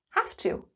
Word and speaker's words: have to: have to pay tax notice the pronunciation have to have to there's a f sound have to yes you